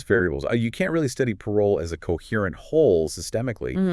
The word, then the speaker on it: parole: Then parole pronounced parole.